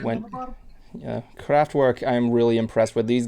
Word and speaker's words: Kraftwerk: Evan's band, Kraftwerk. Yes, it's pronounced that way.